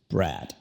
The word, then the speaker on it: Brad: Con la D no toques a los dientes como lo haces en español y también como lo hace Mauricio. No es D, es simplemente Brad.